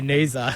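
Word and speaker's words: Neser: So I think for Nisa to, it's funny, everyone's saying Nisa. I think he's told everyone that that's how you say it. I've been calling him Ness the whole time, so it's really hard for me to say Nisa.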